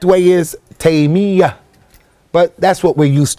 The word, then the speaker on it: Taymiyyah: pronouncing his name is Taymiyyah, with a shadda on the ya. Many people make it with takhfif and they say Taymiyyah. The correct way is Taymiyyah.